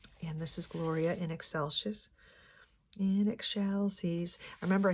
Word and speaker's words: Excelsis: Say it like you're saying eggshells. And then add the end.